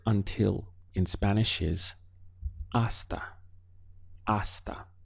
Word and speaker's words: hasta: in Spanish is hasta hasta the H is silent so your pronunciation starts from the a here asta how would you say